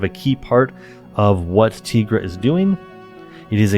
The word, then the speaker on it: Tigra: I've been saying Tigra, sorry. My Spanish upbringing, taking Spanish classes, gives me the wrong emphasis on certain syllables. Tigra. I'm sorry for all the people that have already commented, it's Tigra.